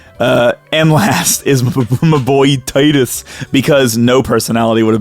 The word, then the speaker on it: Titus: I'm also very thankful that everyone agrees with how to pronounce Titus's name, which is Titus.